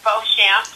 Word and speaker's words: Beauchamp: name Nicole cuz I don't know how to pronounce it it's it's bamp bamp yes got it well welcome to the